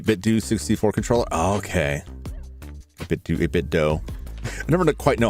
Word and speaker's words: 8BitDo: 8BitDo. I never quite know how to pronounce it. It's like 8BitDo, like Nintendo, but I always just want to say do.